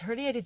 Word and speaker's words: herniated: It's not hernia. Wait, it's herniated disc. I keep saying it wrong.